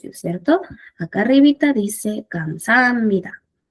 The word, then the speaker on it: 감사합니다: Ahora, nuevamente, si nos enfocamos en cada sílaba, va a ser gam, luego sa, luego ja, y luego el ni y el da. ¿Ok? Pero para que suene mejor, más fluido, se pronuncia 감사합니다. Si se dan cuenta, se juntan el sonido de muchas consonantes con vocales.